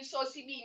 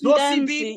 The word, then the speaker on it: Zozibini: I'm not happy with you calling Zozibini Sosibini. It's not S, it's a Z. I know. So And if you that's say her name. That Zosibini Ndanzi.